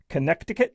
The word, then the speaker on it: Connecticut: Anyway, uh but uh either way, the lawsuits against New York, Connecticut, where the middle C is silent, and Vermont alleged that